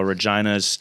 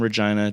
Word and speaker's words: Regina: hilarious because it rhymes with vagina vagina is fun it's